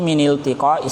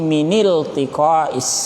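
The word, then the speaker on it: من التقاء: Jadi litalakhusi min iltiqa'is sakinain. Bacanya mini ya, minil tiqa, bukan mina ya. Itu karena bukan alif lam tambahan. Itu alif lam asli dari kata iltaqa, yaltaqi iltiqa. Jadi bacanya minil tiqa.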